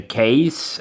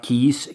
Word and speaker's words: Kees: It's a case, not keys, case. That's how you pronounce it.